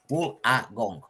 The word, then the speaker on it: Wollongong: Wollongong. That's the best way to pronounce it.